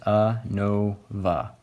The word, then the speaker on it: ANOVA: How many syllables are in this? ANOVA. Three. So three syllables, so you got to at least have three means to compare, okay?